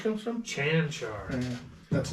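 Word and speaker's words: Čančar: How would you pronounce it? Because it's not what you think it would be. Valvik? Kankar? Chanchar. I don't know where the H comes from. Chanchar.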